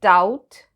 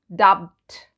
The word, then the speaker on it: doubt: We say doubt, not dubbed. So the B is silent in doubt and L is silent in almond.